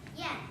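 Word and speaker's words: 焱: It is pronounced yen.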